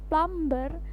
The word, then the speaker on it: plumber: strong to the wrong karena ada satu huruf di dalam kata plumber itu yang disilet atau tidak perlu diucapkan Hai kesalahan yang sering terjadi dalam pengucapan kata plumber adalah masih disebut ya huruf b dalam menyebutkannya seharusnya huruf b tidak dibaca sehingga menjadi flower flower dengan huruf r samar bahkan hilang ya kadang-kadang orang British itu